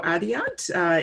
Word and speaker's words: Adiat: My name, the T in my name isn't pronounced, so my name sounds like Nadia without the N, Adia.